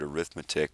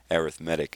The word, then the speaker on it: arithmetic: I know that looks like the word arithmetic, but usually it's pronounced arithmetic in this example.